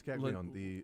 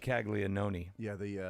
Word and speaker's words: Caglianone: It's Caglione. Looks like Caglianone. Yeah, but I was told that's wrong. The first N is silent.